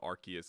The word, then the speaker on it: Arceus: but i don't know i always thought it was rcs2 but i think i heard them they pronounce it arceus in the directs so yeah and i